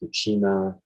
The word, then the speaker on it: Buscema: name because it's uh it doesn't sound the way it's written it's v-u-s-c-e-m-a it's sema i've heard people pronounce it different ways buchima i think it's be similar but i could be wrong uh okay one of